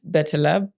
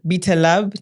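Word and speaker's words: BetLab: britam website check out betab betab I keep mispronouncing bet lab check it out and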